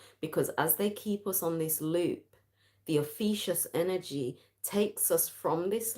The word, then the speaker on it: Ophiuchus: People pronounce it Ophiuchus, but that just sounds like, it sounds like vomit to me, so I like to say Ophiuchus.